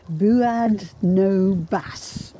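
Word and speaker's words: Buaidh no bàs: How do I pronounce what? The MacDougall clan war cry. Buad no bas.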